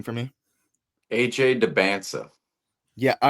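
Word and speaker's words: Dybantsa: AJ Debansa.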